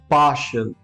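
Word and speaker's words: partial: example के तौर पे the first word is पार्शल पार्शल we don't call it शियल बहुत बार मैंने देखा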